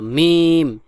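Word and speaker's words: م: আইন কাফ মিম ঠিক করে বল মিম মিম নাকের মধ্যে যাবে না মিম মিম মুখ খুলে মিম মিম ইয়া নুন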